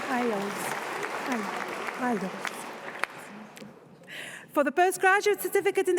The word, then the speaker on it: Isles: Pronounced Isles.